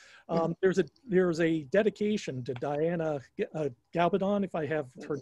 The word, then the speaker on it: Gabaldon: It's Gabaldon is how you pronounce her name. She always tells people that you just remember it's like rhymes with bad to the bone is how she always tells people.